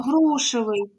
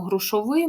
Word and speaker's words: грушевий: пишете суфікс О ну ми не кажемо грушовий Ми кажемо грушевий відповідно це в нас